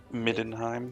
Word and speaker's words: Middenheim: Midenheim.